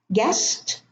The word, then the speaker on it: guest: Guest, no U.